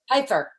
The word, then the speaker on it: Pfeiffer: Pfeiffer. Hey, Alicia. It's a long I because it's EI, right? I think I got that right.